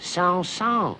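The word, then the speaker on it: Saint-Saëns: communication is used here it is pronounced sound song frank flames camille the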